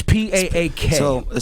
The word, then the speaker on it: Paak: But for you, is it PAAK? It's PAAK. So it's a Korean name. My mom's originally from Seoul, Korea. It's supposed to be my last name. My last name is Anderson, and it's supposed to be Park, but she was adopted